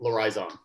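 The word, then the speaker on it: L'Horizon: It's L apostrophe Horizon. So Lorizon. Oh, very fancy. It's like Very saying French. horizon, but in French.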